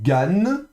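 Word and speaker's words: גן: Ensuite, ça c'est Gan. Gan. D'accord. Donc nouveau guimel avec un patard et un noun final. Gan.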